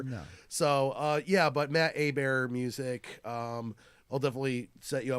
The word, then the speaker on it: Hebert: have my own musical Facebook page it's Matt a bear music but it's it's spelled like a - bear that's good idea